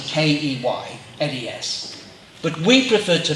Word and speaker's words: Keynes: I know it's spelled Keynes, K-E-Y-N-E-S, but we prefer to pronounce it Keynes.